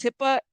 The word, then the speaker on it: HIPAA: don't know I don't know I don't know hippo wouldn't apply in Mexico I don't know if HIPAA applies HIPAA it's HIPAA not HIPAA the ones like listen